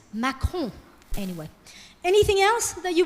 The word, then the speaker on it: Macron: they'll go, Emmanuel Macron, Macaron. And we're like, no, it's not macaron, it's Macron.